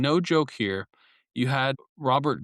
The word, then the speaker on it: Robert: you had and and and no joke here, you had Robert Grubel, which again, if we're going to look at if you're going to hear Robert, it's actually I believe Rober and then it's pronounced Groel.